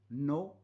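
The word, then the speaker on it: know: letters के एन ओ डब्लू नो नो माने जानना बोल रहे हैं हम उससे को क्या नो ही नोज ज ही नोज माय सिटी तो ये के साइलेंट है लिसन टू लिसन एल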